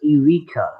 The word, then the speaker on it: Eureka: Wait, it's pronounced Erica 7. I thought it was Eureka.